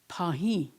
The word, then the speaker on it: pahi: the accent is more at the end whereas pahi is more in front.